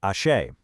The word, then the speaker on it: Aṣẹ: Which brings us to the core concept here, ashe. It's pronounced ashe.